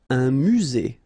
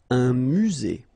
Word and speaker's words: musée: Un musée. Final E not pronounced. Un musée.